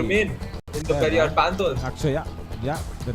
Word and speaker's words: Akshaya: So Akshaya actually is what the name is, Akshaya. And it is written as A-T-C-H, Akshaya. That's how it is written in Tamil, where there's no sure pronunciation. So that's why they write it as like that. But in English, when they write it, it is written in the same way how it is pronounced in Tamil.